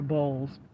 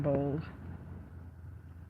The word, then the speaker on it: Boles: BS. Okay. Did they spell his name wrong? Cuz now they said Mr. BS. Okay. Yes, it is Brian Bold.